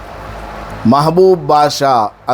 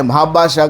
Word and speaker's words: महबूब बादशाह: महबूब बादशाह असल में नाम है। लेकिन लोग क्या पुकारते हैं? महाबाशाह करके पुकारते हैं। महाबाशाह कोई नाम है ही नहीं।